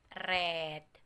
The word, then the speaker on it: read: thread menjadi read menjadi Red nah Dit ini tulisannya sama Tapi bacanya beda itu red seperti itu Nah ini